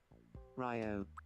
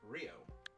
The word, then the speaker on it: Ryo: Ryo, you seem to be doing well. No, it's pronounced Rio. Ryo, how goes it? Ryo, long time no see. You pronounce it like this. Rio, how goes it?